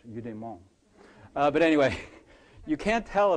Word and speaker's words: eudaimon: My students tease me because I pronounce it like it's French, eudaimon.